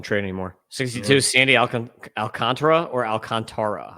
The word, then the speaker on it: Alcantara: 62 Sandy Alc Alcantra or Alcantara. I always said Alcantara announcer say alcantra that's like quick yeah accent on the second syllable and I have